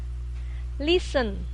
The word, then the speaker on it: listen: Listen. Jadi T-nya itu tidak dibaca. Listen.